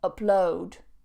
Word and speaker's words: upload: And to upload, upload, upload on that second syllable. If you put the stress on the first syllable, download, upload, then it becomes the noun.